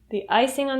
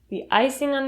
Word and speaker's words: icing: The icing on the cake. When you say icing on the cake, the g sound at the end of icing reduces to n.